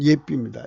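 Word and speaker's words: יפי: 그런데 현재 그 이스라엘의 발음은 예삐입니다. 예삐.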